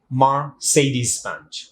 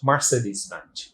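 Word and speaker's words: Mercedes-Benz: সো আপনি এরপরে যখন এই ওয়ার্ডটা উচ্চারণ করবেন তখন অবশ্যই খেয়াল রাখবেন it must be pronounce like মার্সিডিজ Benz.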